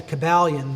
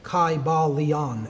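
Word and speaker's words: Kybalion: Y sounds, you know, it would have been a long I sound. Kai Balon and every syllable would have been pronounced.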